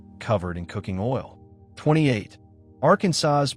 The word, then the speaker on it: Arkansas: This is official legislative language that reflects deep frustration with people who pronounce the state name like AR Kansas rhyming with Kansas.